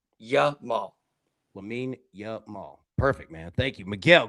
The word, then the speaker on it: Lamine Yamal: And Brad, pronounce the name again. Lamine Yamal. Lamine Yamal. Yamal. Lamine Yamal.